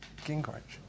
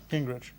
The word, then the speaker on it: Gingrich: Gingrich. Gingrich. Gingrich. All right, wicked. Okay. Gingrich.